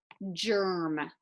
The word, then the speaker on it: germ: Remember, all of these G's will be followed by E, I, or Y because they're making the soft G sound. Germ, germ.